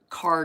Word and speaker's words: Kerr: Kerr like her, sorry. We have something called car drugs and it's spelled ke r in eastern North Carolina.